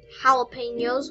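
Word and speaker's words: jalapeños: And also I think jalapenos, which are pronounced that way even though they start with a J.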